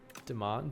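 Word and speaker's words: demesne: It's pronounced similar to domain. That's weird. Okay. Uh, apparently the S is silent. Deman domain became our English domain.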